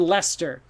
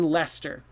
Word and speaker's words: Leicester: is that lycester no lester so worcester and lester the two words look crazy but they actually rhyme okay and uh so you could say tim lives in leicester so this is another